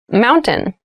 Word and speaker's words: mountain: Keep in mind when you pronounce this word in fast speech, it sounds like mountain. The T sound is reduced.